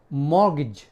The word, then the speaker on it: mortgage: एक वर्ड है MORTGAGE, मॉर्गेज।